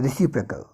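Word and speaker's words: reciprocal: Next है हमारा रेसिप्रोकल, इसको रेसिप्रोकल भी कहते हैं, ऐसे इसका रियल प्रोनाउंसिएशन है रेसिप्रोकल, रेसिप्रोकल प्रोनाउन।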